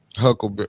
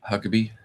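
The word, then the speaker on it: Huckabee: I've been watching that Tucker Carlson um uh uh and and and and uh Huckleberry. Is that his name? Am I saying it right? Huckabe.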